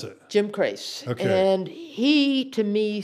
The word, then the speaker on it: Crace: How do you pronounce it? Jim Crace.